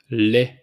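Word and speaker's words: lait: same thing soda milk le le so we don't pronounce the T at the end Le wine it's V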